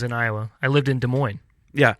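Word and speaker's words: Des Moines: while I was in Iowa I lived in De Moine yeah not de MO Des Mo desm yeah it's French for the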